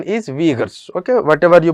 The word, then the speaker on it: Uyghurs: So this pronunciation is Uyghurs, you can call it as Uyghurs, it's all up to you, but the pronunciation is Uyghurs, okay, whatever you pronounce it, that's not an issue.